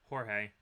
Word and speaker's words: Jorge: Jorge. Not George.